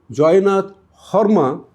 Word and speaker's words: Joynath Sarma: Joynath Sarma, or Horma as it would be pronounced in Assam. So Joynath Horma was accused of having instigated them.